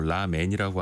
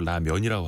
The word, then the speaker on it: 라면: 야 우리가 요즘에 해외에서 진짜 미국 사람들도 라맨이라고 안 하고 라면이라고 하거든요.